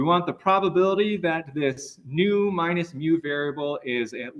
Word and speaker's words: nu: for probability we want the probability that this new minus mu variable is at least Epsilon and